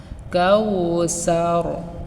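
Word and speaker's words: الْكَوْثَر: যেমন কাউসার, অর্থাৎ সাকে আমরা পাতলা না করে সিনের মতো উচ্চারণ করি, কাল কাউসার।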